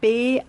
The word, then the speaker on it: Baiser: Beiser schreibt man B-A-I-S-E-R.